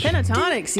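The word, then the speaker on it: Pentatonix: Pentatonics, yes.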